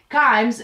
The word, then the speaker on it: Kimes: and Sante's picture said in part, "Kimes rhymes with climbs."